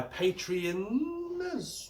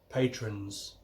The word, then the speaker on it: patrons: to say thank you very much for my Patreons. I'm going to be careful here. I always pronounce it wrong. Apparently Patreon is the website. It's Patreons. Patrons.